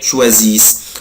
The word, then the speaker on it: choisissent: vous choisissez، بس مش بنطق الاي اس اس او ان تي، مش بنطق الاو ان تي، بقولها كده il elle choisissent.